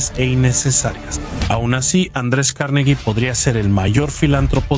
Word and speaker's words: Carnegie: Andrés Carnegie nació en Escocia, por eso digo Carnegie en vez de Carnegie, ya que así lo pronuncian los escoceses.